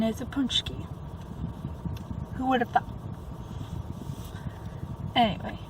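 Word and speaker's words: pączki: I don't remember offhand, but I always called them paccis because it's spelled Paczi. But no, correct pronunciation is a punchki.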